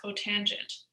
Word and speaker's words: cotangent: So CSC is cosecant, SEC is secant, and COT is cotangent.